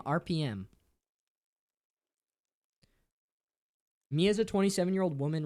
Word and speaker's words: Arpiyem: Arpiyem.